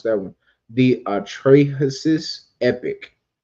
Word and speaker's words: Atrahasis: Atrahasis. That's how you pronounce it.